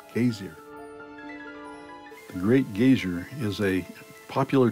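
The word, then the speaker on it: Geysir: been borrowed into english in icelandic it's pronounced casey great geyser is a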